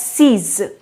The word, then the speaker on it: six: have a look here sanch ecutabia six is pronounced as seas seize six is pronounced as seas seven is